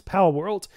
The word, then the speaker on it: Palworld: couple of days uh pow world I believe that's how you pronounce it it's pow world it's basically if you